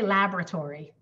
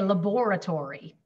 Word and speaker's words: laboratory: very different in in american english we say laboratory but in british english they say laboratory those are very different pronunciations but so language changes